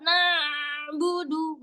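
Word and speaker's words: نَعْبُدُ: Huruf ain itu ketika dia sukun suaranya nampaknya sedikit mengalir. Jadi enggak ngalir banget. Na'budu enggak enggak juga terhenti nabudu bukan na'budu nabudu ditekan sedikit na'budu.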